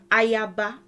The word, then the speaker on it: Ayaba: I don't remember, but Ayaba is how we would say it in Yorùbá. Ayaba, Ayaba, Ayaba.